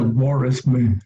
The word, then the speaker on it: bore: Bueno, se pronuncia bore, en inglés es bore.